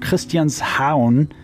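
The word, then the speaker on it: Christianshavn: uh set in a place called Christian's Hound that's how they say it it's Christian's Haven basically has these beautiful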